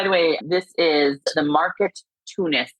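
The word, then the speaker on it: Marketoonist: way, this is the market tunist. It is market and and which is spelled market and then o n i t.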